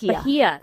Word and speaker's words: Lygia: Yeah, I meant to ask the origin of it, but it's spelled like Lydia, but with a G. Yeah, it looks like Lygia, but it's not.